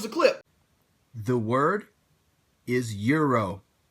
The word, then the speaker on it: gyro: Yeah, I'm a huge fan of gyros. The Euro, or Gyro, or Hero, however you pronounce it, I pronounce it Euro.